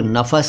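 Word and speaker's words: नफ़स: इन दोनों ही अल्फाज को कई लोग नफस कह देते हैं और कई लोग दोनों को ही नफ्स कह देते हैं। दरअसल दोनों अलग अलग हैं और इनका सही उच्चारण वही है जो मैंने अभी बताया। पहला नफस और फिर नफ्स।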